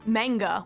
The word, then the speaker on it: manga: And I remember back then I kept pronouncing it manga when I would talk to her, and she'd kind of whip around and be like, it's manga.